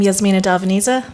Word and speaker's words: Darveniza: Hi everyone, I'm Yasmina Darveniza, that's how you pronounce it.